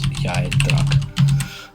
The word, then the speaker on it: Yaidrak: She explains that, like, her home village, Yaidrak, spelled like, I keep saying it, but it's Yaidrak.